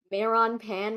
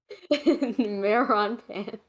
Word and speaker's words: Meron Pan: Meron Pan wants to hear me sing. Oh, Meron like melon. Meron pan. Meron pan. I pronounce my Rs. That translates to melon bread.